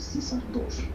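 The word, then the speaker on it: CAESAR II: Se escribe CAESAR 2, el CISAR 2, que es un programa muy interesante y es ya toda una especialidad dominar este programa.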